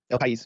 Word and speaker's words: El País: El País. El País.